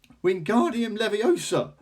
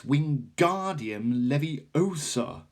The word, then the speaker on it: Wingardium Leviosa: having much more luck Wingardium Leviosa he shouted waving his long arms like a windmill you're saying it wrong Harry Hermione snapped its Wingardium Leviosa make the GAR nice and long you hear that if